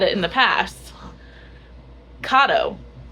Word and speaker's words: Kato: So, we've been pronouncing cat as cat. We originally were saying ko years ago, but then we heard someone else say kado. And we're like, okay, we'll say kado. We're like, let's get to the bottom of this.